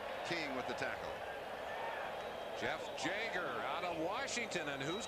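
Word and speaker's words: Jaeger: said why does everybody how I pronounce my name read it it's Jagger well he shouldn't come down to you then you live in we would think that it would be jger and he drives a jaguar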